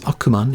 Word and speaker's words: Ackman: The Japanese word for demon is Akuma, which is where Ackman, pronounced as Akuman in Japanese, gets his name, so sadly he didn't get his name from me.